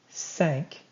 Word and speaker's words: cinq: Cinq. Kind of sounds like the word sank, like something sank, like a ship sank.